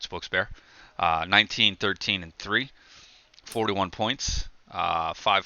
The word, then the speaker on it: Wilkes-Barre: those you don't know how to pronounce wilkes-barre its wilkes-barre not wilkes-barre or not wilkes-barre it spokes bear 1913 and 341 points